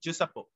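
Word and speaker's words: Giuseppe: It is pronounced Japo.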